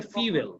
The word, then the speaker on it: fuel: এই যে FUEL, এটার উচ্চারণ কিন্তু আমরা অনেকে জানি না। এটার উচ্চারণটা হচ্ছে, তুমি ফুয়েল বলেছো, Fuel. এবং আমিও 2017 সাল পর্যন্ত এটা ফুয়েলই বলতাম, কিন্তু এটা পরে জানছি এটা হচ্ছে ফিউয়েল, এরকম ফি, স্যার আমি fuel বলছি।